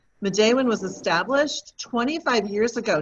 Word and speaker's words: Midewin: deals with healing and balance and it is pronounced midday when madeawan was established 25 years ago next february we're